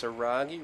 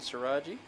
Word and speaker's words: Saragi: So that is pronounced saragi rather than saraji.